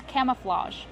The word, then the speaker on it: camouflage: they have camouflage pants Kevin how do we pronounce camouflage camouflage use the open ass sound like ham